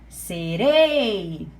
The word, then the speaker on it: serei: Qual é a sílaba forte de serei? Serei. É o rei, tá?